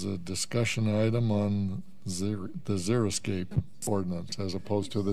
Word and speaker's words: Xeriscape: We will go to item 4.1, which is a discussion item on the Xeriscape ordinance as opposed to the Zeroscape ordinance. No, I did like the zero.